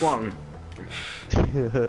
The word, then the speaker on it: Wong: the I thought wrong it was Jin. answer. Oh. No, it's Wong. You're saying it wrong. You're saying it wrong, Seth.